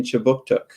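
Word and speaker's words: Kjipuktuk: But before we begin, I'd like to acknowledge that Right Start Newcomer Services conducts business in Chibuktuk, which is how you say Halifax in the Mi'kmaq language.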